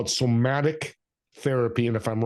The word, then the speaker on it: somatic: Is it somatic therapy?